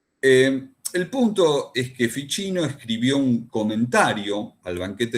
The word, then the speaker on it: Ficino: Florencia vivió un tal Marcilio Fichino, se escribe Ficino, entre los años 1433 y 1499.